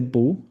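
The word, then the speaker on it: 不: Pues usamos este bu. Es bu antes de sh. Mira aquí, mira aquí. Ese bu no es bu.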